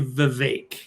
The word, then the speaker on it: Vivek: It's actually Vivek. Heard him pronounce his name.